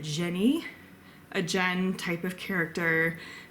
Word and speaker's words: jinn: In the midst, there's the audiobook narrator pronounces it Jenny, a Jen type of